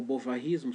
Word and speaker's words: bovarismo: A psicologia depois acabou tirando até o termo bovarismo ou bovarismo, se você quiser afrancesar a pronúncia.